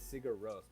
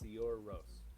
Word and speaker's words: Sigur Rós: It's how I say it is Sigur Rós, but I believe it's Sigur Rós. Oh, okay. It's Icelandic.